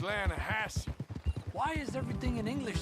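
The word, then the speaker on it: Lannahechee: near here yeah but it's pronounced Lana Hass why is everything in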